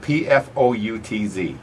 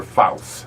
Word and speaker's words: Pfoutz: All right, Pfoutz. Correct. It's coming under Pfoutz. Yeah, right. Okay. All right. The P is silent.